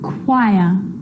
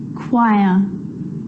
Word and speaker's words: choir: occasions it's not pronounced the H is silent so it's choir choir echo echo with a